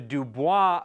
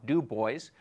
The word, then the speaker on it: Dubois: Lake Idaho near the dubo V which is right up here du o i s du that's the French pronunciation I don't know why they don't call it du boys they don't call this